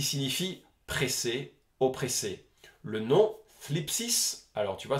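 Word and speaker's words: θλῖψις: Le nom thlipsis, alors tu vois, c'est à prononcer comme si tu as un cheveu sur la langue, entraîne-toi, c'est rigolo, est traduit par tribulation, tourment, détresse, pression, oppression, affliction.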